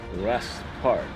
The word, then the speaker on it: Wrest Park: Wrest Park. Rest with a silent W.